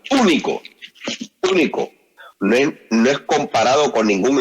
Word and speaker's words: único: hermanos es único y vamos a ponerle el acento en la u único no es Comparado con